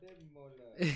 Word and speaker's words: Ademola: My name is Ademola. Your name is Bodo. Ademola. There's a pause, huh? Adem Mola, say that. Adem Mola. Yeah, that's how you say it.